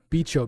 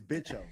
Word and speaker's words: Bicho: You're drinking 3.2 Becho beers. Okay, bro, it's Bicho, okay? Pronounce it right, sorry, okay?